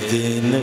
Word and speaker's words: दिन: को क्या प्रिय जय दन पिया दीन छोटी ई की मात्रा लगाओगे तो होगा दिन उसका उच्चारण होगा दिन और बड़ी की मात्रा लगा दोगे तो दन उस पर जोर देना